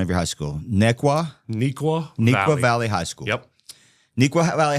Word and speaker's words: Neuqua Valley: So help me with the pronunciation of your high school. Neuqua Valley High School.